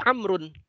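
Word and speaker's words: عمرو: Kemudian ada lagi Amrun, Amrun. Kalau Amrun menulisnya Ain, Mim, Ra dan Waw, itu Amrun.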